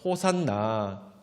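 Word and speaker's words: ὡσαννά: V처럼 생겼는데 저건 니라고 하는데, V처럼 생겼지만 니라고 해서 니은 발음입니다. 그래서 호산나.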